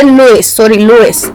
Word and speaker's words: Lewis: अब लिविस ने क्या किया, लोइस, इसकी प्रोनाउंसिएशन चेक करें, लोइस साहब।